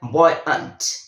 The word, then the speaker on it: buoyant: Middle में है, और उसका जो प्रोनाउंसिएशन है वो है बॉयंट, बॉयंट, बॉयंट।